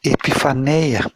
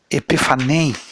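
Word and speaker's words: ἐπιφάνεια: palavra é uma palavra, se diz epifaneia, mas é a palavra, não, a pronúncia é diferente, é epifanem, como se fosse mais ou menos assim, essa palavra epifanem, que é essa epifaneia que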